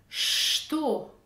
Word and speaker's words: что: Что, qui se prononce sans le ch, en remplaçant le ch par le ch.